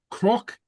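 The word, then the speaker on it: cnoc: Croc, hill. On croc would be the accusative. Don croc or era croc, something like that. Okay. Croc. Okay. The N here is pronounced like an R, remember.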